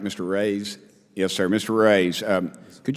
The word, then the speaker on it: Reyes: Reyes?